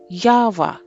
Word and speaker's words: Yahweh: Or, as we say in English, YHWH, and pronounced Yahweh.